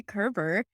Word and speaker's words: Coerver: really cool guest on it is Dr Valerie Kerber spelled c o e r v r and I had to ask how to pronounce it I just am a big fan